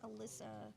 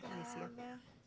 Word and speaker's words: Alicia: It's not Alyssa. Oh, It's Alicia? okay, that's my fault. And then I now see it we now, Alicia.